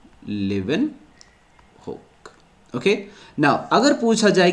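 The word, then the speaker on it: Leeuwenhoek: Then after some time, कुछ सालों बाद, एंटनी वॉन लिवनहुक, या इसको एंटन वॉन लिवनहुक भी बोलते हैं क्योंकि लैंग्वेज का डिफरेंस है, so that's why spelling could change, so we always consider लिवनहुक।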